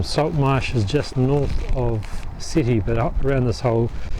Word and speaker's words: Sète: We're at some salt marshes just north of Sète, but up around this whole area there's lots of flamingos. So we stayed the night in Sète or Sète, S-E-T-E. It's probably supposed to be pronounced Sète.